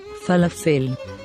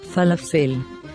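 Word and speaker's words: פלאפל: here let's spell it this is how we pronounce this word falafel falafel this is a very popular food in israel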